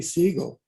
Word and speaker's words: Seagal: frank ducks and uh frank would intentionally mispronounce seagal's last name he would call him steve siegel which is his real last name it's really siegel oh seagal's grandfather was